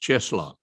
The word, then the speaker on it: Tscheschlok: It's pronounced Cheslock.